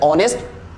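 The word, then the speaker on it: honest: एच आ रहा है, ओ से पहले एच आ रहा है, दैट्स व्हाई क्या हो जाएगा, एच हो जाएगा साइलेंट, तो आप इसको पढ़ते हैं ऑनेस्ट, आवर, ऑनर, राइट।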